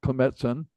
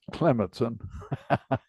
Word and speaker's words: Klemetson: We've just had the class period taught by Rick Klemetson and or Klemetson, and he says he pronounces it both ways.